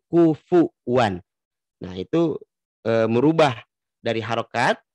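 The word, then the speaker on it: كُفُوًا: Kufwan. Jadi dibacanya kufwan, bukan kufuwan. Harusnya kan kufuwan.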